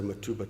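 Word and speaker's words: Mtubatuba: pumps uh in in mat matba tuba the locals say matuba twice so on to some of the results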